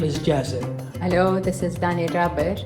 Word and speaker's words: Jazi: استني بس how to كده okay I'm good okay My name is a little bit like hard to pronounce, especially in English. So my name is Jazzy.